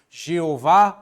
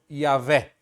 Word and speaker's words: Yahvé: de ser dito, Yahvé, que a gente não sabe se essa era a pronúncia, porque eles não, depois de um tempo, os judeus não pronunciavam mais o nome sagrado, mas sim uma versão desse nome que, a depender das vogais utilizadas, podia soar como Jeová ou Yahvé.